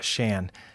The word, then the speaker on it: Chan: you had questions about my name is spelled c-h-a-n which is pronounced Shan the CH is a